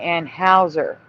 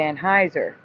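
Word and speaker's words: Anheuser: people talking about the boycott and saying the name wrong, right? They were saying Anne Hower instead of Anneheiser and I think it's because of the spelling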